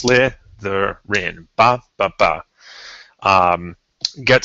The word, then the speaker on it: Slytherin: So if a word's like Slytherin, that'll tell you it's 101 because it's Slytherin.